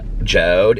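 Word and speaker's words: JORD: of fun with them but it's this it's pronounced j joe'd it's j-o-r-d but it's this joe wooden watch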